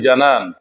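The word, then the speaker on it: جنان: শব্দটি আমি জানান উচ্চারণ করেছি, আল জানান বা জানান অর্থাৎ কলব। শব্দটাকে অন্যভাবে কেউ কেউ ভুল উচ্চারণ করে থাকেন। আশা করি তারা ভুল উচ্চারণ না করে শুদ্ধ উচ্চারণ করবেন।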